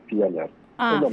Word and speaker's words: Fialayre: Es Fialaire, pero se pronuncia Fialar. Es Ah, lo mismo. Fialer, perfecto.